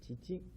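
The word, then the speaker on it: 父: Pronunciation is chichi.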